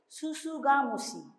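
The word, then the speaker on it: tsutsugamushi: That is TSU, but pronunciation is susugamusi.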